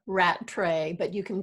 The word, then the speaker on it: Rattray: you Donna cut yeah it's it's Rattray but you can call